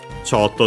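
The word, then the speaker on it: ちょっと: Sotto, the usual adverb we've seen. Accent on the first mora.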